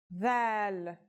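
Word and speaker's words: ذال: This letter's pronunciation is a voiced sound, the, as in this or that. It's pronounced with the tongue between the upper and the lower teeth.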